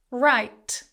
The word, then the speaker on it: write: Write, I will write a letter, silent W. Here's a little pronunciation tip for you here. Whenever you have W and R together in a word at the start, the W tends to be silent.